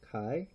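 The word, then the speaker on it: 貝: It's usually pronounced kai as the kunyomi, but it does have some onyomi. I think it's the kunyomi. I could be wrong. Anyway, kai is its usual pronunciation.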